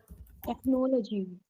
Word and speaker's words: technology: Can you pronounce this word for me? Just a second. Technology.